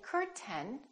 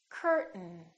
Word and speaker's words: curtain: button say button button don't say curtain say curtain curtain one more word don't